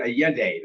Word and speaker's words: Allende: in San Miguel de Allende, Mexico. Did I say that right? Not Allende? quite, but you're close. San Miguel de Allende. That double L is pronounced like a Y, Omar. Oh, okay. Allende.